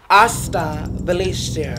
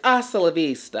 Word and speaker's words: hasta la vista: Hasta Valencia. If you're gonna have a closing line, can you say it right? It's hasta la vista.